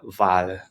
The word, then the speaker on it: Wal: Next, we have V, which is our W in German, which I think everybody knows is pronounced as a V in English.